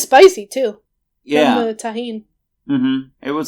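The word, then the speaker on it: tahini: But it was mango snow topped with caramel, chamoy, and tahine. Right? Yes. Hooray, I actually pronounced something correctly.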